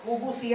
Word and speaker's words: الخبث: کافی حد تک الحمدللہ یہ خوبوسی ہے خوبسی نہیں بولنا اسے با کے اوپر پیش ہے خوبوسی یہ خوبسی اسے نہیں بولنا خوبوسی بسم اللہ ترجمہ ہم